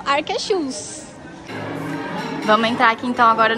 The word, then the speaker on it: Akershus: Ó, oh, não sei pronunciar o nome, acho que é Arqueshus, como é que é, Mari? Arqueshus. Arqueshus. Tem o no final. Segundo a funcionária, que é norueguesa, então acho que ela tá certa, né?